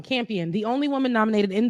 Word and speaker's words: Campion: her speech campion so i've been saying her name wrong campion the only woman nominated in the category okay